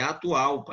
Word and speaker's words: Atahualpa: O meu é derivação, é Atahualpa, né, sem PH.